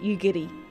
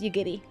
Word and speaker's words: Yugiri: So like Yiri, Yugiri would be Yugiri. So instead of So you your tongue ends up touching the tip of your mouth instead when you pronounce it.